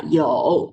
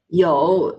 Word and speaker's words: 有: Okay, 有. Circle your mouth. Don't open it wide because we will have another word in the future. Okay, 有 it's YOU with a tone number 3, meaning means have.